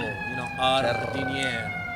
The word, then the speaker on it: giardiniera: I You love have to let the R roll, jardiniera.